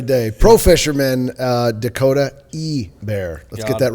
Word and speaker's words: Ebare: Like they're like, "So, it's a bear." No, it's Ebear.